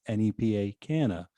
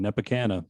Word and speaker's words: Nepa Canna: live in the nepa it's nepa canna and now this whole time too i'm gonna have to resay his name because as i was looking at his instagram name i've just been going nepikana but now i can't say that because it sounded like tropicana so i thought i